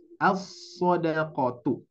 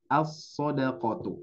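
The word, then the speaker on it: الصدقةُ: maka itu cara bacanya asodqotu asodqotu ini mohon maaf harusnya domah ya karena tidak ada huruf Jar asodqatu nah ya jadi ee langsung ke shadnya Jadi diidgamkan Bapak Ibu sekalian maka terjadilah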